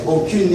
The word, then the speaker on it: aucune: Aucune étudiant. Aucune. Aucune. Aucune. La prononciation c'est aucune. Là, ça, ok?